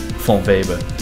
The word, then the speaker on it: von Weber: carl maria von baber von weber that's how you pronounce it in german i think right germans criticize me